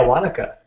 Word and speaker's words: Wanaka: Wanaka? Is that Wanaka, how you say it? Exactly. Yeah, Wanaka.